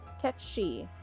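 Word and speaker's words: Cait Sith: Fauzi says, in actual Gaelic, you know, the language it's from, it's closer to Ketchi.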